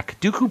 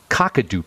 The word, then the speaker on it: Kakadu: Now, Kaduku plum is, Kakadu plum is how they say it, is supposedly a very rich source of vitamin C.